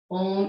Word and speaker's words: Om: Om is the sound of all of life. It's what connects us all. It signifies connection. It signifies vibration. 3 syllables, ah, u, that all come together at the heart.